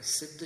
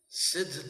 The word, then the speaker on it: सिद्ध: तो श्रिदु संराधोमिकता प्रत्यय लगाकर सिद्ध शब्द की निष्पत्ति होती है। इसके उच्चारण पर अपनी चर्चा हुई थी कि इसका उच्चारण सिद्ध सी में स्वराघात पूर्वक ही होता है।